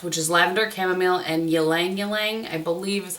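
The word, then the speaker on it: ylang-ylang: And then there's one in Deep Breath, which is lavender, chamomile, and ylang ylang, I believe is how you say that.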